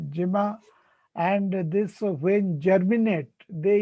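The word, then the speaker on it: gemma: structures are produced okay this is called the jimma g-e-m-m-a or gamma as you pronounce the jema and this when germinate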